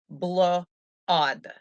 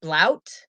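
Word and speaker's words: blót: not celebrate samhain they celebrated blood okay literally pronounced blue odd you bl plus odd you know it's also pronounced blout and other people pronounce it just blot okay now people they used to gather together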